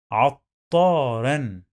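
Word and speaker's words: عطّارًا: Always when we find shadda, we must pronounce the letter two times. The first time is with sukun, and the second time with fatha.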